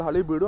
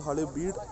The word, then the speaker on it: Halebeedu: It is called Halebeedu and not Halebeedu. Pronunciation differs, that doesn't matter.